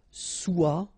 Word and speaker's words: soit: Okay, then of course être and avoir, so être will become soit, remember final S is not pronounced, soit, then soyons, soyez, all right, soit, soyons, soyez.